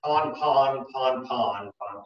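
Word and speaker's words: pan-pan: It's also in that same category as pon-pon. You might have heard the Coast Guard say that on the radio. Pon-pon is also spelled P-A-N. So it's just the way that they pronounce it.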